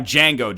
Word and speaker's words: Django: We're going to have Django Jones. The D is silent.